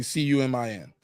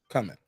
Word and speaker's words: cumin: I don't see two C's I just see c-u-m-i-n coming yeah cumin cumin thank you even if that's